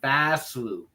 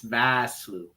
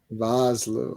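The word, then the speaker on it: Vosloo: No, it's Arnold Basloo. V A. It's Vasloo.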